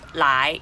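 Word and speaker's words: 来: the second chinese war the second chinese word is pronounced lie and means come in chinese now the third word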